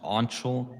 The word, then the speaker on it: Anshul: Also, my name's pronounced Anshul, by the way. Ansel.